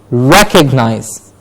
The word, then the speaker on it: recognize: Then we have next one, recognize. Recognize. Not recognize, but recognize. Re gets a clear stress.